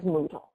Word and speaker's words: Moodle: So what is Moodle? You know, it's a really weird name, right? But it rhymes with Google, and it came before Google.